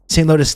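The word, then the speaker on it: St. Louis: St. Lotus, that's how you pronounce it, okay?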